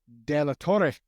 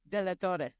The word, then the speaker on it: DeLaTorre: at mortgage Ballers and today I've got delator I'm I'm not even saying it right say your last name for everybody you know it correctly delor oh sure show off okay there we go